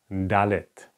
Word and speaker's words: dalet: that's the D okay it's like in the English language like do doing d dalet in writing form it's